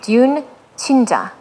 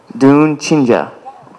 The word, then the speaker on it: 듄친자: be c h i n j a so dun chinja dun chinja like that perect perfect putting you on the